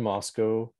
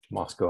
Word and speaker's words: Moscow: People in Moscow had a very strong preference for its pronunciation as Moscow and not Moscow. They would say Moscow is in Russia, but that's one of the things from Moscow, Idaho.